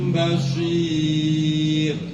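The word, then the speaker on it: بصير: Nah bedanya sin sama shad monyong. Jadi bacanya samium basir. Samium basir. Ya monyongnya di awal doang.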